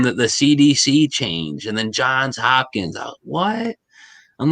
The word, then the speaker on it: Johns Hopkins: I always thought it was John Hopkins, but I hear everybody pronouncing it like when I hear people in, say, a documentary or something, they say Johns Hopkins.